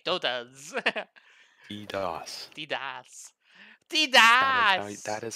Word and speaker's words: DDoS: DDoS.